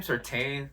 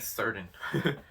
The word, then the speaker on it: Surtain: Is that really how you say his name, Surtain? I this whole time I kept saying Certain, Patrick Surtain Jr.